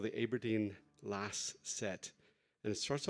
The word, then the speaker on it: Aberdeen: actually born in aberdeen although she made me pronounce it correctly which is aberdeen it's aberdeen al it's aberdeen and she was really quite